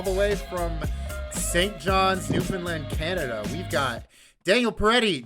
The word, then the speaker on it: Newfoundland: pausing and saying newfoundland oh people who say newfoundland aren't saying it right right right yeah right emphasize the found you emphasize the land okay dan why don't